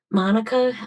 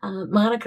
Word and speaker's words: Manuka: At the moment, he's currently based over in Monica. Monica is one of the older suburbs in Canberra,